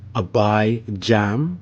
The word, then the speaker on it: Abijam: We see up top we have Abijam, right, with the J sound in the description up top in the Roman font.